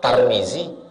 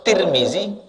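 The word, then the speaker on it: Tirmidzi: atas bawah ada siapa nama kau tarmizzi nama kau tirmizzi nama kau turmuzi ah Yang mana Yang betul tiga-tiganya betul tarmizzi tirmizzi turmuzi tiga-tiga betul itu siapa Pak Basri itu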